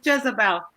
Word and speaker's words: Jetsabel: It's Jezebel. Jezebel.